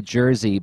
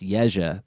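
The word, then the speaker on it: Jerzy: My name has been anglicized to Jersey, but it's actually pronounced Yeja, but no one can say that unless they're from Eastern Europe.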